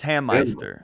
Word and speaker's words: Hammeister: He said it's Hammeister.